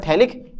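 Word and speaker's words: phthalic: इसको बोलते हैं हम थैलिक एसिड। और यह है थैलिक एनहाइड्राइड। आप पीएच लगा दो, यहाँ पे गड़बड़ हो जाए थोड़ा सा, पीएच कर सकते हो पीएच, थैलिक एसिड में पीएच साइलेंट होता है ना, इसमें थैलिक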